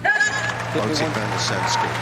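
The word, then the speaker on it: Botic van de Zandschulp: I heard like 17 different pronunciations of that last night on another network. Botic van der Sandskol.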